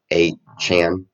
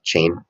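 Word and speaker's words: Achane: I think he wants us to pronounce his name A-Chan, not Chain.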